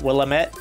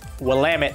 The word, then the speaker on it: Willamette: him he informed us it's not will limit its Willamette yeah man that's how